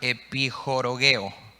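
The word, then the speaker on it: ἐπιχορηγέω: Y acuérdate que añadir en el griego es la palabra epijorogeo. Epichorogeo se escribe, ¿sí?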